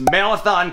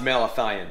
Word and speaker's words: malathion: at home depot was marathon concentrate i hope i'm pronouncing that right dude it's actually pronounced malathion this one was terrible